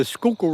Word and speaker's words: Schuylkill: S C H U Y L K I L L is Skooku River.